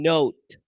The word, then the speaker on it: note: what huh clive well because these at the end don't make any sound the only vowel technically that you're going to pronounce for with note would be n oh it's a long o yeah obviously i cannot